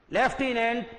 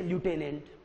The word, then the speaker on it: lieutenant: अच्छे से बैठा लीजिए, इसका उच्चारण होगा लेफ्टिनेंट, क्या होगा लेफ्टिनेंट, लेकिन लिखा कैसे है ल्यूटेनेंट, आपको इसे याद करना पड़ेगा। देखो LIEU LIEUTENANT, ये स्पेलिंग याद करो बच्चों। आप इसे बोलते हैं लेफ्टिनेंट, क्या बोलते हैं इसे लेफ्टिनेंट।